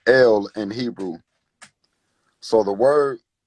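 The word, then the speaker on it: אל: in the beginning was yes God which is pronounced l in Hebrew so the word no is Canaanite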